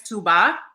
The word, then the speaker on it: Touba: I mean, if you want to throw the accent in there, it's Touba, but yes.